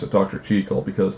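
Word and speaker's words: Jekyll: something you'd hear dr cheekel mr hyde and yeah i know i pronounced it dr cheekel because that's the correct pronunciation as well as that's how the japanese version is pronounced so yeah let's see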